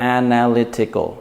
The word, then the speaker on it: analytical: Now, if you have words with this ending, you want to put the stress on the syllable before the last two syllables.